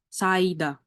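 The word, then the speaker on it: 사이다: Ini bacanya, ini S, A, nggak ada suaranya, langsung ke vokalnya. Vokalnya adalah I, terus ini D, ini A. Dah. Berarti Saida.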